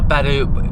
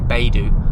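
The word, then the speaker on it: Baidu: It is set up by Badu, which is I think I'm saying it right. It might be BU, but that's like China's version of Google.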